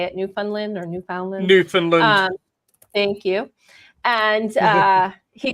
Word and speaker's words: Newfoundland: I don't know if that's how you say it, Newfoundland or Newfoundland.